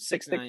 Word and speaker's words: 6ix9ine: 6ix9ine.